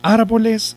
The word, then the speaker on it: árboles: Ahora la pregunta es, ¿árboles es una palabra grave? Primero, ¿es una palabra aguda? Respuesta, no. ¿Por qué no, profe? Porque no lleva el acento en la última sílaba, ¿cierto?